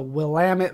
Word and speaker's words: Willamette: But now that I actually live at the end of the Oregon Trail, I know how to pronounce things a little bit better, like the Willamette Valley.